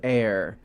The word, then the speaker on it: Ire: Greeting from Fort Ire, pronounced air.